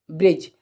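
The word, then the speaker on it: bridge: आर आई दी जी ब्रिज तो ब्रिज में देखेंगे आप क्या होता है यहां पर देखें की जी से पहले क्या है दी तो दी हो जाएगा साइलेंट जैसे एक एग्जांपल हम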